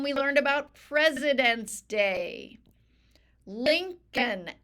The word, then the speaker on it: Lincoln: learned about President Day linoln l i n c we make the C with a c sound link l i n c linoln o l n there's this silent L I don't know why linoln we make with